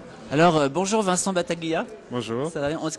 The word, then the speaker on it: Battaglia: Alors, bonjour Vincent Battaglia. Bonjour, Ça va bien. Est-ce qu'on dit Battaglia ou Battaglia? on dit Battaglia. On dit Battaglia, Ouais, hein, à l'italienne.